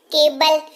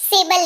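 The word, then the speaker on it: cable: शुरू होती है स्पेलिंग, लेकिन उच्चारण केबल, सेबल नहीं बोलते हैं उसको, है ना, केबल, राइट।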